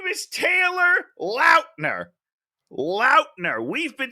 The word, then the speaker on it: Lautner: or anything stop somebody and said it's not Lautner it's Lautner just go with whatever you're like it's fine I don't care his name is Taylor Lautner Lautner we've been saying it wrong and the